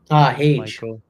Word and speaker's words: Hage: Age. Oh my God! You mentioned the 4th. Come on, Age. He plays for Michigan. Hage.